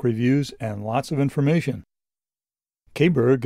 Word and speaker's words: Caberg: Kberg, as we seem to pronounce it in the US and the UK, is an allalian motorcycle